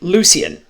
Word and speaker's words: Lucian: It's Lucian. Lucian. It's Okay. Lucian. Like, I I mean, I spelled it with an E, so I fucked up there. Gotcha. Yeah, but it's standard, like, that is the pronunciation.